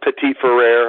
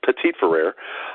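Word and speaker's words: Petit-Frere: pronouncing his name wrong I used to pronounce a pity friend and someone told me was Pettit for rare turns out they were wrong it's petite for rare but if the redshirt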